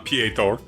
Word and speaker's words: Peter: Um, uh, uh, Ptor. Um, uh, Ptor. Yeah. Yeah. Uh, but it's spelled Peter. It's P E T E R. It just everyone pronounces it Ptor.